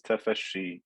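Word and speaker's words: tafashshi: only applies to sheen when i pronounce the sheen as we said the tongue goes up and touches the middle part of the mouth and also that requires air flow between the teeth this is tafeshi ish ish to create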